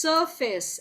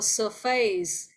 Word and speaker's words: surface: Ooh, that is surface, and it is never surface.